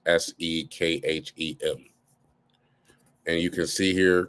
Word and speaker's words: Sekhem: I pronounce it differently with an H, but Egyptologists have translated it as Sekhem.